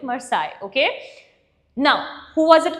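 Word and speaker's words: Marseillaise: The spelling is Marcellus, but when we pronounce it, we call it Marseille, okay?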